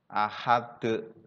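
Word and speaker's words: أحد: Bacaan huruf dalnya ketika dibaca waqaf, maka membacanya dengan baca memantul. Ahad, somad, lad.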